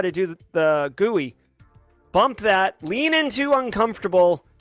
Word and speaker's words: GUI: This is very similar to how you navigate a GUI, or a graphical user interface, GUI. It's pronounced GUI.